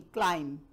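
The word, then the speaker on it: climb: क्लाइम, C-L-I-M, क्लाइम नहीं, क्लाइम, बी नहीं बोलना.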